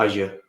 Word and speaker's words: Azure: but mostly it's been uh azir as you should really pronounce it and i'm not always